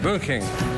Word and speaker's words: Bündchen: Pero recién Bernard Martínez nos decía cómo es la pronunciación. Bündchen.